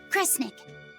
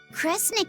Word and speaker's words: Kresnik: Sound it out. Cre, Snira, Cre, Snick. Kresnik. Kresnik feels right somehow.